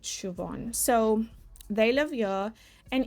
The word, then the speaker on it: Siobhan: who is Morgan and I think you say her name Siobhan, but it's spelled a little bit differently than how you would say it, but I think it's said Siobhan.